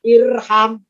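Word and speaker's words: اِرْحَمْ: Kalau huruf ketiganya fathah, alifnya tidak ikutan fathah tapi tetap kasrah maka bacanya irham.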